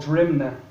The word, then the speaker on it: Drimnagh: I was born in my house in a place called Drimnagh, pronounced Drimnagh, but it's Drimnagh.